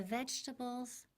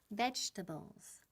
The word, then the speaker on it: vegetables: Vegetables. Vegetables. Quedan en 3 sílabas. No decimos vegetables. No en 4, pero con 3.